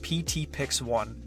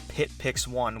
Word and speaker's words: PTPix1: It's pronounced PTPix1. This is actually one of the reasons why I want to change my username. People seem unsure how to pronounce it. I've had a few people pronounce it as PitPix1, which just sounds really weird to me.